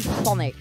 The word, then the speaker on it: Thonic: Eddie Thonic. Like Sonic but Sonic. Thonic.